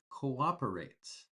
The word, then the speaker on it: cooperate: Uh we pronounce co first and then we pronounce operate. So we have that o sound two times. Copperate. Two different sounds of course but co- operate. Cooperate. We have to pronounce both vowels.